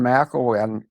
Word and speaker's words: McElwain: But her name's a little hard for me to pronounce because when I do the first syllable, I try to say Connell, McConnell. But she's McElwain.